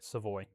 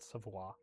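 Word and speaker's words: Savoy: Seavoi, not Savois.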